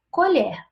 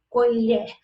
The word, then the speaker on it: colher: Quando eu digo colher, eu tenho esse som da última sílaba mais aberto. Colher. E agora na segunda, colher. O som é mais fechado.